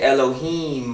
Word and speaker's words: Elohim: Y makes a long I cuz you say Elohim all right it has a long in to